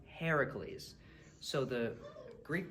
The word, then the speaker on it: Heracles: English people mispronounce is Hercules that's the Roman pronunciation the Greek pronunciation is actually Heracles so the Greek pronunciation